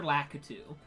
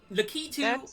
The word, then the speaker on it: Lakitu: Lakitu. Lakitu or Lakitu, however you want to pronounce it. I think most people do Lakitu, but I do Lakitu because I'm fucking weird.